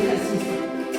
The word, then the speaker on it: Cassis: Tu dois bien prononcer le S de Cassis. Comme le font encore les provençaux. Cassis, comme le pastis.